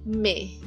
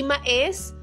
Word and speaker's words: mais: So itong next natin would be me. Hindi mais me or it means but 'di ba? Dati yan binabasa ko siya as mais.